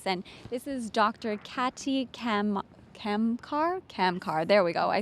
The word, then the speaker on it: Kamkar: Katy Kamkar, there we go, I said it right.